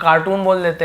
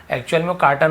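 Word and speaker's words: carton: Soda पीते हैं, तो उसके कार्टन हम लोग कार्टून बोल देते हैं कि भाई सोडा कार्टून, ये कार्टून ले आओ। एक्चुअल में कार्टन होता है, यानी कि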